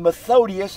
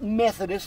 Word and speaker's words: Methodius: cyril not curl if you're rushing you might pronounce it as curl and methodius not methodist i've had so many people say methodist 1897 to 8 19 16.